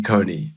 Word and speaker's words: Kony: his name is not Coney, it's Con. It should be pronounced like cognac," he said, but without the a.